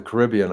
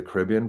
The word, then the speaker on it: Caribbean: But whenever I'm talking about the Caribbean, I say the Caribbean. But for some reason, for Disneyland, I say Pirates of the Caribbean.